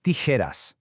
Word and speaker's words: tijeras: The sharp J sound, which is pronounced like an H in Spanish, almost mimics the sound of snipping paper, right? Las tijeras.